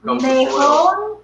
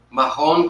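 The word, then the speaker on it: Mahón: And then we have Mejón Parado. Am I saying that right? Mejón. This is Manchego. This is Petite Basque. And then this is, do you want to pronounce it for me? Mejón? Mahon Curado.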